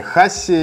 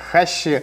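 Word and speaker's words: はし: Называются они хаси, либо еще можно встретить произношение как хащи.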